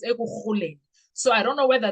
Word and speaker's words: Ekurhuleni: He served as the deputy chief of Ekurhuleni Metropolitan Police Department. Ekurhuleni. I don't know whether they say Ekurhuleni or Ekurhuleni, but in Xhosa it's Ekurhuleni.